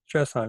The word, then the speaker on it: Strasheim: Is that how you pronounce her name? Strasheim, yeah. Strasheim.